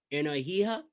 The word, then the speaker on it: Energia: Energia. Yeah, it's basically energy in Espanol. You know, Okay. and they don't pronounce the G, so it's like an H sound.